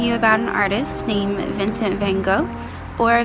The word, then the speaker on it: Vincent van Gogh: And Miss Clarkson is talking to you about an artist named Vincent van Gogh, or Vincent van Gogh is how his name is actually pronounced.